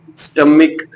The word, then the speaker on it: stomach: इसके एंड पे आवाज आती है काफ की, स्टमिक।